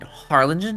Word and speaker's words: Harlingen: lived in Harlingen Texas h a r l i n g n so you know you know how to say it I will never say it right because people have mistaken it for Arlington and Harlington is definitely